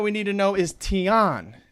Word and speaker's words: Tian: another term that we need to know is Tian teon t-i-a-n Tian is heaven generally referred to generally